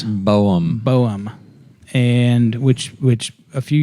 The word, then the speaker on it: Boehm: Um, the uh, and you looked it up, how to pronounce it. It wasn't Beam. It was Boem.